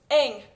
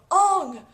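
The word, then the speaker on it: Aang: anime and the original the writer ERS it's Ang the writers chose Ang and Saka that's how it was pronounced I'm not I don't care if that's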